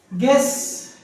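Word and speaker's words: guess: पता है आपको सबको गेस जी यू ई ये वोवेल हो गया जी आ गया जी और वोवेल के बीच में यू आया मतलब वहां पर वो साइलेंट हो गया गेस्ट जी यू ई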